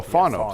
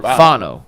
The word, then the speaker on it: Fano: Yeah, I'm looking at the Browns draft card they turned in, and the phonetic pronunciation is Fawon-O. Oh, Fano. So you're Fano. Yeah. Fano.